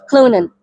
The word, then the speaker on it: Clonan: Am I pronouncing it Clonan?